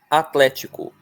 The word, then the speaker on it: Atlético: Atlético, a sílaba tônica está bem óbvia. É tlé, não é?